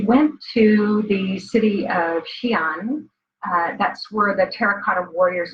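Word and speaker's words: Xi'an: was when we went to the city of Xian that's where the Terracotta Warriors are and it's spelled Xin if anybody wants to go look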